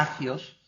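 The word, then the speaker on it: ἅγιος: concepto de santidad ahí es la palabra jayos agios sería como hacks es como se pronunciaría agios significa sagrado físicamente puros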